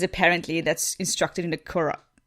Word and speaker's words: Quran: pubic hair, because apparently that's instructed in the Quran. How do you pronounce it in English? Quran, okay.